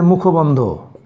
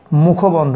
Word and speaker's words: মুখবন্ধ: Preface, preface হচ্ছে মুখবন্ধ, এটাও তোমাদের এর আগে পড়ানো হয়েছে, আমার খুব ভালো মনে আছে। মুখবন্ধ, প্রিফেস হচ্ছে মুখবন্ধ, অনেকেই উচ্চারণে ভুল করে মুখ বন্ধ, এটা মুখ বন্ধটা নয়, মুখবন্ধ।